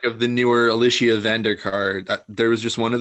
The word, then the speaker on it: Vikander: You're pronouncing that? Yeah, I can't. Vikander. Vikander.